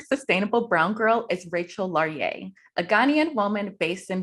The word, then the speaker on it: Laryea: sustainablebrowngirl enjoy perfect and your last name is pronounced laurier right yes okay cool today's